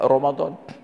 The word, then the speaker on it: Ramadan: Tapi bacanya wajib Allah sedangkan Romadhon memang tertulis r a m a d a n Ramadan tapi dibaca Romadhon jadi memang kayaknya paling